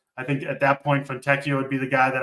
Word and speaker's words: Fontecchio: Listen, I got to tell Mangone how to pronounce every guy in the NBA every show we do. So I got it. Fontecchio.